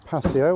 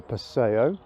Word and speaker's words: Paseo: Next to it we've got the Toyota Paseo, or Paseo, depending on how you say it.